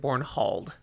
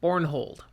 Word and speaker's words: Bornhald: I said Bornhald. No, Bornhald. Say it how you will. It's the Norwegian pronunciation.